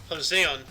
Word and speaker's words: Joseon: got Jung John of Hozon, or Joseon, pronounce how you spell it. Yeah. So with southern accent, probably Hozon, Joseon, whatever. That'd be a Hispanic accent. Yeah. Joseon. Good. Joseon, yeah.